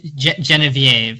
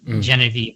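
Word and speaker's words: Geneviève: and um her name is uh oh geez uh genevieve i guess is how they pronounce it in the film but genevieve i suppose you can i'm not gonna you know try not to offend anyone against my french pronunciation um and this 20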